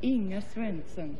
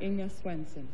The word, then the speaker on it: Inga Swenson: Well, if you want to be authentic, it's pronounced Inga Swenson. Inga Swenson. From Omaha, Nebraska. From Omaha, Nebraska. But you can say Inga Swenson.